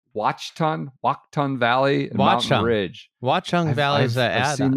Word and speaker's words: Watchung: Watchung Valley is that I've seen that. I've seen that a million times. I never know how to pronounce it. Say it again. Watchung. Watchung Valley and Mountain Ridge.